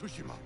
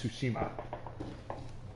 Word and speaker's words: Tsushima: are the warriors of sushima we are samurai been pronounced for all this entire time is really it's like sushi that's tsushima god damn it i